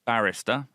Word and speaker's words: barrister: and before we move on let's get that pronunciation so it's Barrister and that's b-a-r-r-i-s-t-e-r hi a barrister Hotel images